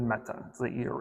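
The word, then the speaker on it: mettā: compassion meaning loving kindness loving kindness in Sanskrit is uh meta or sorry in poly it's meta in Sanskrit it's mi mi I'm going to go with meta is your pronunciation for loving kindness and then compassion is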